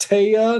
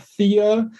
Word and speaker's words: Thea: not Cameo and um the name Thea is Scandinavian it's properly pronounced TAA not Thea and it is as